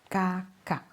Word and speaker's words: kakak: Kakak. Many native speakers don't fully pronounce the final K. Instead, tidak. Bapak. Anak. Kakak. The sound stops suddenly.